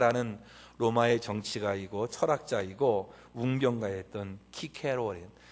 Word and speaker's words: 키케로: 여러분이 잘 아는 로마의 정치가이고 철학자이고 웅변가였던 키케로, 다른 나라 발음으로는 시세로 이렇게 얘기도 하지만, 이분이 자기 정적인 안토니우스에게 피살되잖아요.